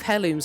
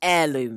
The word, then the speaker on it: heirloom: on my what if hair looms had badges video i pronounced hair loom wrong well like that actually i pronounced it hair loom not heirloom it feels better to say you insufferable worms i